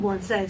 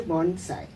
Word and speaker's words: bonsai: changed the name to Bonsai and uh it is pronounced as a Sai and not a Zai many people make the